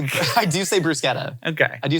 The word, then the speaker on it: bruschetta: If I was at a restaurant and somebody ordered a bruschetta, I'd be like, I don't roll the R, but I do say bruschetta.